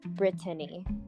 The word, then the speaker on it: Britney: I think how you actually pronounce my name is Brittany, but I just don't have people say it like that.